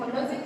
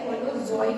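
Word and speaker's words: holozoic: अब देखो ये जो स्पेलिंग है होलोजोइक होता है, ठीक है, जोइक, एक मिनट, होलोजोइक, ठीक, इतना आप समझ में आया। हाँ, वो होलोजोइक है, ये ग्रीन प्लांट्स में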